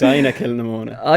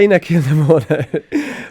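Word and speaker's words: Inagh-Kilnamona: I told you this earlier, but it's Ina Kilnamona. Ina Kilnamona.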